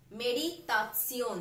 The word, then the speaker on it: Meditation: Meditation. This is a German word for meditation. Spelling is same, but the pronunciation is different.